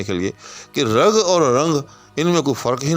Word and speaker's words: رنگ: نہیں ہے، جی ہاں۔ یہ رنگ، اس میں تین حرف جو ہیں، رے، نون اور گاف، تینوں متلفظ ہیں، جی ہاں، لہذا یہ فا کے وزن پر ہوگا۔ اسی طرح سے یاد